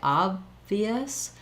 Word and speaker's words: obvious: So to put it together, when I say obvious, the B has my lips closed, and then the V has my upper teeth and lower lip together.